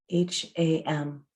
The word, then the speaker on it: ham: On the exhale, it's ham, H-A-M, pronounced ham.